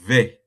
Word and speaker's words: vais: You change it to je vais. Je vais. Ok. Vais. Je vais. Je vais. Understand? Je vais. Vais is spelled Je V. vais aller. No, I'm coming. Je vais. V-A-I-S. V-A-I-S. Je vais.